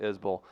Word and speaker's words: Isbell: Everyone does it, but he pronounces it Isbell.